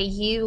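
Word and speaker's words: ewe: not reproduced is a u lamb and that word e w is pronounced U like the word you or the letter you or female that has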